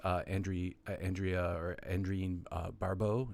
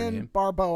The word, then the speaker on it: Adrienne Barbeau: Soul, and of course Andrea Barbeau. Is that how you pronounce her name? Adrienne Barbeau, I believe, is correct.